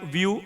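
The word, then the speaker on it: Wio: which was taken by Vue it's pronounced as view but written as wiio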